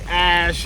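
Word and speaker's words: Æ: X and then the the AE is like pronounced Ash um yeah and then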